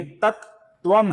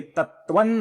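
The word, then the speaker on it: तत्त्वम्: ये तत्वम है और इसका जो अनुस्वार है इसके आगे त आने के कारण हम इसका अपूर्ण म ऐसा इस प्रकार उच्चारण नहीं करेंगे। इसका उच्चारण होता है न, अपूर्ण न, अर्थात ये तत्वम नहीं होगा, ये तत्वन होगा।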